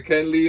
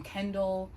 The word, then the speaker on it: Kenli: thing i'm like alright i see the ken lee like i'm like a kelly or chun li you know when i